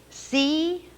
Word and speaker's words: chief: C-H-I-E-F. Ch-eef. Chief. Big Indian chief. The E sound is spelled I-E this time.